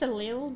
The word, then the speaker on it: allele: It's like Ali and then lil.